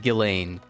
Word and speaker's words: Ghislaine: By the way, it is pronounced Ghislaine. What are you talking about? What are you talking about? It's pronounced Ghislaine.